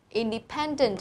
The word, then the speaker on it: independent: Independent, trọng âm vào đây này. Independent, từ này có 4 âm tiết.